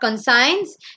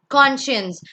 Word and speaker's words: conscience: It's not conscience, it's conscience, which means manasachi.